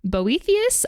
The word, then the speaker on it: Boethius: And eventually Boethius, I might be pronouncing that wrong. Boethius, that's correct.